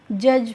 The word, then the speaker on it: judge: इसके बाद है देखो JUDGE, यहाँ पे जो बच्चों डी है वो क्या है? हमारी साइलेंट है, इसीलिए हम इसको जज नहीं पढ़ते हैं, इसको हम क्या पढ़ते हैं? जज पढ़ते हैं। यानी कि जी का प्रोनाउंसिएशन हमें नहीं करना है।